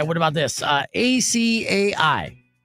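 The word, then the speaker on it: açaí: Uh a c a i. Ah, incorrect. Asai.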